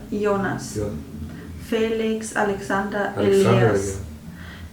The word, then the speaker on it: Jonas: So you pronounce it Yo? Yeah, Jonas.